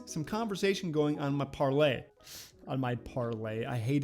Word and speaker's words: Parler: read that tweet did you read that parlay it doesn't just doesn't have the same mouth feel it doesn't roll off the tongue it's not as easy it's an extra step parlay it's two syllables par lay tweet it's one syllable